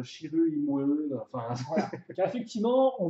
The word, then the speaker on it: Chirrut Îmwe: voilà, tu as bien prononcé ton nom parce que Shiru Imwe, Shiru Imwe, enfin.